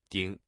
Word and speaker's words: 鼎: In today's video, we'll teach you the Chinese character for cauldron, pronunciation. Ding.